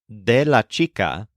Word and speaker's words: del: sayug but in Spanish the words de and El blend together into one new word d spelled D L let's practice with a